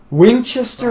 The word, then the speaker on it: Winchester: And it's funny, it's like Winchester is like the one sister town where you actually pronounce it fully.